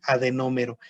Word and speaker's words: adenómero: Cuando yo hable de una unidad secretora de glándula, es lo mismo que adenómero. Adenómero, así tal cual se escucha la palabra y con acento en la O.